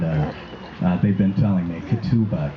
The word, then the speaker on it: ketubah: it up and uh they've been telling me kituba katupa all right so you all know i officially right now pronounced at ketubah so if i don't don't say it right